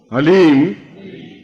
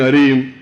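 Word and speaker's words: ह्लीम: बोलिए ओम हलीम बस शब्द बहुत ध्यान से उच्चारण करने जाना एच ए एल ई ई एम हलीम कोई बोले हरीम कोई बोले ही तो कुछ फायदा नहीं होगा ह ली म हलीम ह आधा है ओम अभी बोलना ओम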